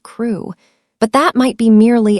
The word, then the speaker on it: Crewe: Madame Pascal pronounced it as if it were Carol instead of crew.